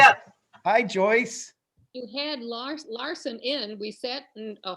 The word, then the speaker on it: Larson: So it's Larson. Oh, I said it wrong.